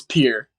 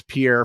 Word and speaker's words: Pierre: you're in you're in is it is it pronounced peer or Pierre it's peer see that's something that no one would know if without this podcast everyone from around the country has thought it's Pierre for the our entire lives so you're up